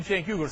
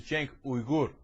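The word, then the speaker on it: Cenk Uygur: don't know if you know this but I'm Jen yugur Salam alayum the real pronunciation is Jen ugur which is a total pain in ass who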